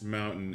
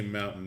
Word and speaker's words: mountain: all right so this mountain is not very big what she said so i was talking about the the utah accent about how utahns don't pronounce their t's and so one of